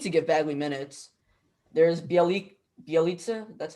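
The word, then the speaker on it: Bjelica: There's Bielitsa, that's how you say it? Yeah. Bielitsa.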